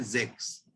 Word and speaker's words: sechs: तो 6 की जो प्रोनाउंसिएशन है वो है जेक्स, SECHS, जेक्स।